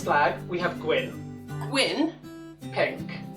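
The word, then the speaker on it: pinc: pink, Pink. with a C, not a K, and glas golau.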